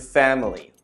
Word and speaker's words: family: However, in common English pronunciation, we shorten this to just two syllables. Can you hear which syllable has been cut out? Family. Family. Could you hear that the middle vowel disappears, the I?